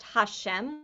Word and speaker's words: HaShem: with this hey and an apostrophe which is pronounced hashem which is the name god is written down